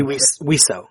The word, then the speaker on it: Wiseau: It'd be Wiseau, because it's a respelling of the French word for bird.